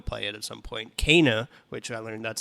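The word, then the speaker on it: Kena: Kana, which I learned that's how you pronounce it.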